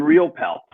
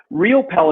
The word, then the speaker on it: Riopel: a famous uh artist with the last name real pel but if you look into history and you look at it real pell is spelled r-i-o-p-e-l like my name or there is